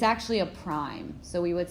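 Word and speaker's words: A′: And it's pronounced out loud as A prime. It is not an exponent.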